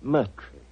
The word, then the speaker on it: Moriarty: My name is Murtry. Oh, indeed. Spelled M-U-R-T-R-Y? No. Dear me, I have so much trouble with my name. People will either misspell it or mispronounce it. I'm afraid I'll have to begin calling it the way it looks.